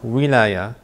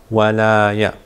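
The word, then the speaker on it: ولاية: Wilaya can be pronounced as wilaya and can also be pronounced as walaya. Each meaning something different.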